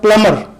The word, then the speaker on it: plumber: प्लम्बर को हमारे यहाँ जो है गलत प्रोनाउंस किया जाता है, इसका सही तलफ़्फ़ुज़ है प्लमर।